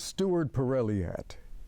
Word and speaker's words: Stewart Perrilliat: My guest is Stewart Perrilliat.